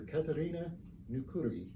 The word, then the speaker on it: Katariina Nykyri: Katariina Nykyri. How close did I get on the pronunciation?